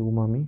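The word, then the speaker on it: umami: অংশটা, কেন্দ্রীয় অংশ হচ্ছে এটার প্রোনাউন্সিয়েশনটা একটু মজার, স্বাভাবিকভাবে মনে হয় উমামি বা ইয়াম্মি, সুস্বাদ বা ইয়াম্মি বলা হয়। এটা হচ্ছে তোমার কেন্দ্রীয় অংশ। এই এটা গুরুত্বপূর্ণ এই তথ্যটা। কেন্দ্রীয় অংশ বলা হয় হচ্ছে উমামি, সুস্বাদ গ্রহণ করে কেন্দ্রীয় অংশ।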